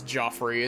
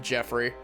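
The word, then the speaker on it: Geoffrey: Jeoffrey Jeoffrey wow I I have to actively like keep my brain from pronouncing that name as Joffrey instead of Jeffrey what what can we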